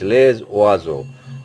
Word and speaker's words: les oiseaux: Say S, single S is pronounced like Z. Okay, les oiseaux. And it is joining with the next word, vowel O, so it becomes a Z-like pronunciation, les oiseaux.